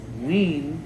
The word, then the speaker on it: Wien: There's a place called Wiener Schnitzels that sells hot dogs. Wien, W-E-I-N, is how you say Vienna.